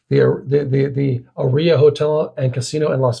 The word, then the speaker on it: aria: The name comes from the Italian word air or melody and is consistently pronounced with the emphasis on the first syllable, aria.